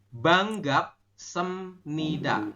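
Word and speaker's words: 반갑습니다: sem sem sem sem Oh bacanya sem tulisannya Sep Betul tapi dibacanya saya Sep tetap oh salah berarti ya salah ya salah harusnya semnida seperti ini oh semida nah lihatin ya banggap semnida seperti ini kalau Latinnya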